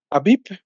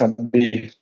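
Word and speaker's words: אביב: Así se escribe Aviv. ¿Sí? ¿Qué representa Aleph? La letra Aleph. Ah, no, así no es. Es Aviv.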